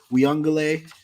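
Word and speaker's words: Uiagalelei: So DJ Uyunglele, I said that right.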